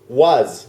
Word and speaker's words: was: อย่าง นึง ก็ คือ was was w a s was เป็น เป็น ตัว S สะกด แต่ ว่า จะ เป็น เสียง Z There was There was